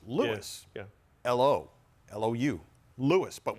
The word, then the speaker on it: Louis: Isn't it funny how Lewis, emphasis on the first syllable in Lewis. Lewis.